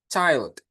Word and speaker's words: child: Dibacanya bukan chill ya, tapi child.